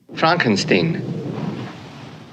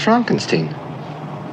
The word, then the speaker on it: Frankenstein: Frankenstein. You're putting me on. No, it's pronounced Frankenstein.